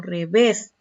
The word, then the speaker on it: revés: Miren este ejemplo, revés. ¿Cómo se pronuncia? ¿Dónde está la mayor fuerza de voz? En la última.